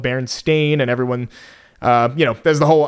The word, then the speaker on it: Berenstain: Pronounced Berenstain, spelled Stein at the end.